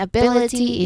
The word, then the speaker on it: ability: that flexibility sincerity opportunity all of them follow the same rhythm. Third syllable from the end is stressed. So the bill and ability is stressed.